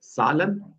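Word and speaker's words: Zahlen: ठीक है, सालन, ये एग्जैक्ट इसकी वही प्रोनाउंसिएशन है जैसे उर्दू में हमारे पास रोटी सालन होता है ना।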